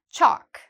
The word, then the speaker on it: chalk: Chalk, same thing. Again, we have the A here, which means no L, chalk.